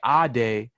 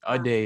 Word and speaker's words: Adé: But if you say Adé, then that's like that's my name. There's power in my actual name. Adé is like just wrong pronunciation.